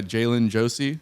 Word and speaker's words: Jai'len Josey: great it's great so you're playing with uh jalen josie yeah that's how you say her name yeah